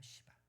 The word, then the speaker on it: 시바: 시바. 발음 잘하셔야 돼요. 름 잘하셔야 돼. 시바예요. 너무 기분 나쁘다고 또 누구한테 봐.이 너 알아 이러면 안 돼요.